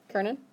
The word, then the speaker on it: können: Yeah, here, it's pronunciation. Ker. I want to say Coleman, but it's Does that help? Kernan? Okay. Yeah, so not Conan, or Brian, or whatever.